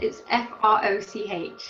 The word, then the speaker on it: Froch: Carl Froch, and I can't pronounce it. It's Froch.